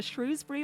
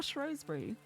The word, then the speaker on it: Shrewsbury: It can be either shrewsbury or shrosbury. It's it can be either.